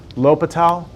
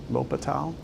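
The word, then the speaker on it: L'Hôpital: So this right here looks like it's spelled hospitals, but it's L'Hopital. L'Hopital.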